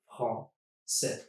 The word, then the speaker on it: Français: And the second thing I'm changing is the AI, e. I'm turning it just into a regular e sound, accent grave, and dropping the S. Français. That's all I need to pronounce that word.